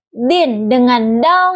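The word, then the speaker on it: دِينِ: Kata din huruf da makhrajnya itu di ujung lidah dan gigi seri atas. Huruf nun makhrajnya itu di ujung lidah dengan gigi seri bawah. Nun. Nah, kesalahan yang sering terjadi itu seperti pengucapan dal. yang terlalu cepat sehingga tidak jelas. Contoh bacanya itu din yang terucap jelas.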